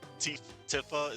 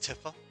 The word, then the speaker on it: Tifa: I call her the cheat code gift because anything tiffa is always approved. Yeah, I forgot pronounced tifa. Yeah, tifa.